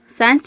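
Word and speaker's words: science: यहाँ पे आप देख रहे हैं कि एस और सी बीच में आ रहा है, एस सी। तो आप इस तरह से इसको याद रख सकते हैं कि एस सी, किसी भी वर्ड में अगर एस सी एक साथ आ जाता है तो इन दोनों को मिलाकर हम स प्रोनाउंस करते हैं।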